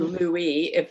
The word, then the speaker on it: Louis: Lindbergh wrote the book, The Spirit of St. Louis, or Louis, because it's spelled the French way.